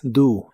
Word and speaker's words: do: El verbo hacer cuando es más general en inglés es do. La o se pronuncia como una u. Do versión de hacer no tiene nada que ver con construir o crear.